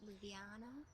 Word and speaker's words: Ljubljana: That's how one of the main breweries is pronounced on their pint glasses. Ljubljana, maybe?